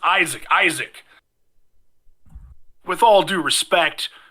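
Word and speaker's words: Izek: says Isaac for Hunter for those of you taking notes at home i-z-e-k Isaac oh it's spelled the worst way this dude's a dude it's a terrible way of doing it Irwin comes around and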